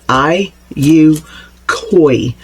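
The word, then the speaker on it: IUKOI: I think it you pronounce it I U Koi. It's the letter I, the letter U, the then K O I.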